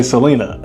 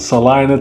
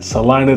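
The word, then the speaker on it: Celina: And some people say Selena. It's not Selena. It's pronounced Salina, Texas. C E L I N A. Salina, Texas, which is another great city here in the Dallas Fort Worth metro.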